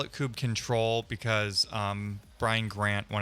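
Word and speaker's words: kubectl: the creator of the coop control tool uh shamed everybody at kubecon to 2018 maybe uh and and told everybody it is pronounced coop control and you missed one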